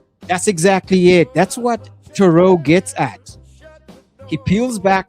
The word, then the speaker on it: Theroux: Pete, Americans and Brits pronounce it with a th rather than a ch because they can't French. Theroux. So I'm pronouncing it correctly, right? Good. Theroux it is.